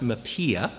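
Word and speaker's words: MHPAEA: how to pronounce it the mental health uh parody and addictions Equity Act is pronounced mapia and there are a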